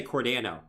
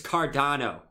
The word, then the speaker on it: Cardano: always hear people say cordano and I'm like bro it's not cordano it's cardano stop saying I I'm